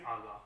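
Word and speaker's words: agá: They pronounce it aga.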